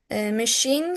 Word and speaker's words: machine: Machine, cliche, Chicago. They are pronounced with sh.